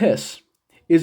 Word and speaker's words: His: the way here is called the bundle of His okay it's pronounced his sometimes you might be uh you